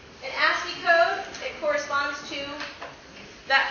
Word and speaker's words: ASCII: And this acronym ASCII, we pronounce that as ASCII.